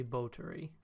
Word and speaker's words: Báthory: was foreshadowed even though her name is technically bo Tori that is technically how it's pronounced rotary bullet ory it's